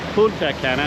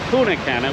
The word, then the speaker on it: Punta Cana: And Punta Cana, not Puna Cana, which I will after a couple drinks.